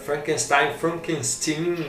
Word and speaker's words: Frankenstein: Da brincadeira, quando ele põe lá Frankenstein.